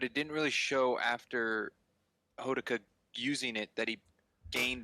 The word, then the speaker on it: Hodaka: How do you pronounce his name? The main character. Hodaka.